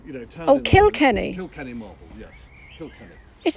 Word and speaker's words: Kilkenny: in kilkenny marble how'd you how did you spell that james k-i-l-k-e-n-n-y so kill kenny you know oh kill kenny kill kenny marvel yes is that irish then